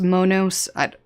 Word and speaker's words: Monos: hard shell, the Monos, technically it's pronounced Monos. They told me it's Monos. For some reason in my brain, I just like to say Monos, so I'm just going to keep saying it like that.